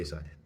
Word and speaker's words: Saiyan: It's like yes, I know some people say Saiyan. Some people say Saiyajin.